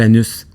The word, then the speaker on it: Anus: Écoute, il y a même un village qui s'appelle Anus. Ben oui. Mais il prononce Anu, je pense.